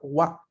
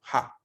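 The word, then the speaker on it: は: En ese caso, nosotros lo identificamos como tal y pronunciamos la sílaba wa, no la pronunciamos ja.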